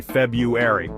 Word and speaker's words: February: Most people just skip right over that first R and say February. And guess what? That's totally fine. Even dictionaries are starting to accept that pronunciation.